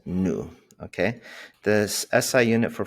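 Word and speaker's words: ν: okay um that's a this is a symbol symbol and pronounce as new okay this SI unit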